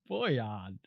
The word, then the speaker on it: Bojan: It's Bojan.